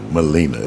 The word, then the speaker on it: Maleena: 2 E's. Long E. Ooh, Maleena.